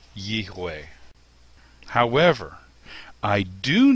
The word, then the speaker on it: יהוה: So rather than Yihweh, it would be Yehweh.